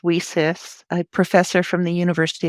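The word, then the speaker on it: WiCyS: It's pronounced WESIS.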